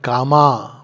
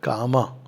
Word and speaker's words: Kama: Not Kama, but Kama.